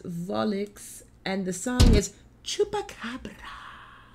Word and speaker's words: Volixe: lovely fam i'm believing the pronunciation of the band is volix and the song is